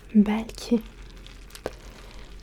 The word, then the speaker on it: belki: Peut-être, c'est belki. Belki. Belki. Belki. Et ça s'écrit B, E, L, K et I.